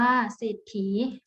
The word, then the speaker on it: เศรษฐี: ปราศรัย อ่าน ว่า ปราศรัย เศรษฐี อ่าน ว่า สิฏฐี คำ ที่ มี พยัญชนะ